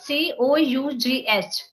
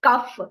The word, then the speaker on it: cough: thought like if I so this c o u g h cuff even I also used to pronunciate it this is cuff but while coming to Bangalore only I came to know that it is not cuff it's cough you you just go